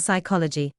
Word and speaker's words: psychology: The letter P is silent in words such as psychic, psychiatry, pneumatic, receipt, pseudonym, and psychology. The letter B is silent